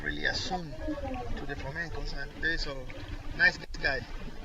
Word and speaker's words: flamencos: Beautiful flamencos. That's the Chilean pronunciation of flamingos. Well, you know we're in Chile, so it's flamencos.